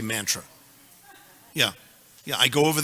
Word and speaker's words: mantra: become anglicized karma mantra they of course they pronounce it mantra which is terrible and and those people in England they also say mantra that's terrible our devotees state mantra yeah yeah I go